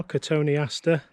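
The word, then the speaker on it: Cotoneaster: looks really well the large cottony ester which i can pronounce a little bit better now catony astor thanks to nigel in his video just recently i still like to say cotton easter because that's what it looks like to me but i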